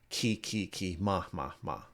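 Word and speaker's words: ki ma: The the composer uh said that he uses syllables from part of the script and it's actually key ma.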